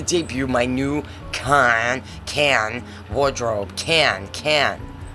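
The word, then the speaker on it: Cannes: Can. It's can. The S is silent. The C sounds like a K.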